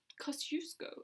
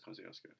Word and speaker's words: Kosciuszko: Kosciuszko is apparently how it's meant to be pronounced. Everyone says Kosciuszko.